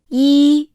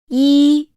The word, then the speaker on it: 一: 一、一，一， When pronouncing this sound, the mouth is slightly open in a flat shape. The tip of the tongue rests against the lower gum ridge.